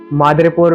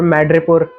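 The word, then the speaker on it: Madripoor: मादरपुर मैड्रीपुर जो चाहे तुम कैसे प्रोनाउंस कर लो।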